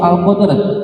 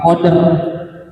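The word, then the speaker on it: القدر: water sama seperti itu atau di surah alqadr in Q bukan qoder qod dibacanya ro tafhim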